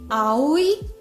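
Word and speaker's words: Aoi: I don't really remember a thing, but I Lady Ai, it's three syllables even though it's just three letters. That's how you say it.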